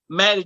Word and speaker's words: Mattie: But my name is Mattie, Mattie. The second T is silent.